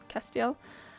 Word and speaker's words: Castiel: It's called Castiel, basically pronounced Castiel.